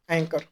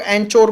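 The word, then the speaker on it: anchor: तो यहाँ पे मैं क्या कर रहा हूँ, एंकर। इसे एंकर बोलते हैं, कुछ लोग एंचोर पढ़ते हैं तो वो गलत प्रोनाउंसिएशन है, इसे एंकर बोला जाता है।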